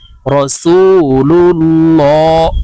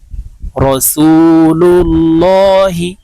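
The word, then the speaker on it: رسول الله: মোটা করে পড়তে হবে রাসুলুল্লাহ হাজিরহি রাসুলুল্লাহি আমরা যখন ওয়াকফুর ক্ষেত্রে এখানে থামবো তখন এভাবে শব্দটি বলতে হবে রাসুলুল্লাহ এই হাকে ওয়াকফের ক্ষেত্রে সাকিন করে ফেলতে হবে সম্পূর্ণ কালিমায়ে তাইয়েবা আপনাদেরকে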